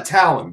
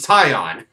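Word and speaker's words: Taillon: pronounce higashioka it was tie on it's always two syllables buddy but the fact that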